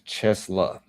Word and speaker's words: CHESLA: Is that Chelsea y'all? That's what that's called. Chelsea. How you pronounce? That's not Chelsea. That's Chesa. Like literally Chesa financing your future begins here.